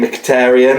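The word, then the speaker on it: Mkhitaryan: and I always struggle to say his name mkhitarian I believe it is yeah that's cor well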